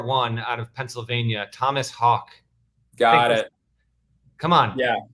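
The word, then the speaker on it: Haugh: he is it that he spells his name h-a-u-g-h and he pronounces it like the bird like hawk yeah yeah it's thomas hawk but it's this i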